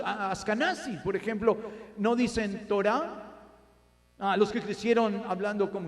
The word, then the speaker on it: Torah: Entonces, en estos los judíos askenazíes dicen Teira. En vez de Torah, la Torah.